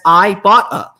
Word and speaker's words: Ibotta: at Ibotta and say I've been pronouncing it wrong the whole time and there's a pronouncer right here on my copy that says I bought a uh we're always throwing